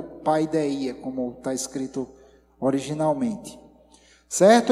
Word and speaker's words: paideia: E através, eu vou falar exatamente sobre isso, que no grego é a palavra paideia, que se a gente pronunciar hoje no grego atual seria pedia, da onde vem a